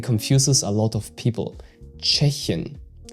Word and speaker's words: Tschechien: And the problem here is that you pronounce the ch at the start like a CH in cheese and not like a T with a SH after that.